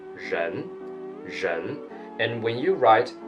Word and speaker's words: 人: person and people and in pinging this character reads as Jen are E and with a second tone chené chené and when you